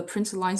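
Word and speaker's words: println: Uh, so the PowerPoint says that the print line statement is pronounced print lin, but me personally, I think print line makes more sense.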